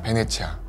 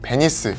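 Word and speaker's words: Venezia: 있다고 하네요 e 이탈리아 베네치아 흔히 영어식 발음인 베니스 라고 알려져 있는 이탈리아의 베네치아 는 일명 올해 도시로 유명한데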